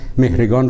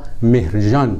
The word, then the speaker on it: مهرگان: عرب ها چون صدای گ ندارند مهرگان را مهرجان تلفظ می کنند.